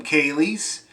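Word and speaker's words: céilí: for irish square dancing they call them kaylie's uh it's like it's spelled slightly different than the cape breton kaylee that's uh got a dh this is just c-e-i-l-i and it's it's like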